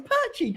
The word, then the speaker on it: Perchy: it oh my God you can't say my name right it's perchy come on man come on